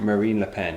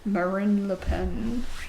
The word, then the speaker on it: Marine Le Pen: Not Marion. Mary... how'd you say her name? Marine Le Pen, yes. Marine Le Pen.